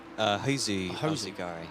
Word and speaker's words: Hozu Alzagari: I don't know how to pronounce that name. I'm going to let you. Hozu Alzagari. Alzagari, there you go.